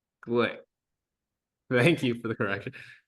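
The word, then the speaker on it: Glück: g g l i it's pronounced with an i instead of a u Glick thank you for the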